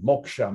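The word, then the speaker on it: mokṣa: and rebirth and freedom moksha means freedom that s with the dot under it is pronounced like a sh like an sh sometimes it's just spelled that way sh right but self realization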